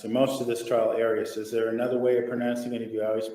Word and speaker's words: Arias: of pronouncing any of you always pronounce it Aries I've heard it pronounced about seven different ways I say Aries as does the rest of my family well let's back up